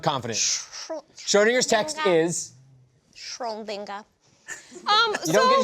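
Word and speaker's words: Schrödinger: Schrodinger's Text.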